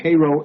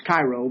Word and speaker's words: Cairo: things come down, but in Egypt it's Cairo, but in Illinois it's Cairo. Spelled the same though. They can, if you go there and you ask directions to Cairo, Illinois, they know you ain't from around there.